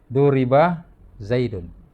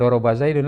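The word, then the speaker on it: ضُرِبَ زَيْدٌ: punya di sini ada duri Bah zaitun Hai ini bacanya bukan dhoroba zaidun lagi tapi Duri Bah zaitun zip dipukul ini pengerjaannya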